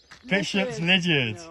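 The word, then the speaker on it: Bishops Lydeard: How do you pronounce Bishop's Lydiard? Lydiard. Bishop's Lydiard.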